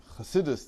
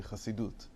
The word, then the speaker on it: Chasidut: Encyclopedia Judaica, which there prefers always the Sephardic pronunciation. So instead of Chasidus, they say Chasidut.